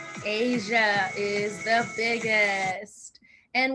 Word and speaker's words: Asia: is the biggest and we say it like a ja i'm gonna put that in the chat asia is said like a ja ay ja i don't know why english is really weird heavy heavier the